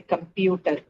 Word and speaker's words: compute: something like like say computer okay uh let's look at compute first computer is again what it's a syllabic verb we know dyelabic verb needs to be stressed on the second syllable so compute Right?